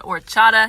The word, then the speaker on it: horchata: specifics i just know it's called horchata not it's h-o-r okay uh so it'd be or but i just pronounced the h because of the pun oh this one's so